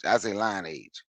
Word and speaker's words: lineage: I know people pronounce it lineage. I say line age because that's how I spell just for the hell of it.